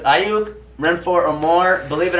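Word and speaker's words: Aiyuk: I'm going to quickly say Brandon Ayuk. You gotta say his name like that from now on. Ayuk.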